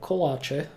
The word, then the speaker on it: kolache: In Czech and Slovakia, kolache, which is the original way how to pronounce it, it's actually a group of baked sweets.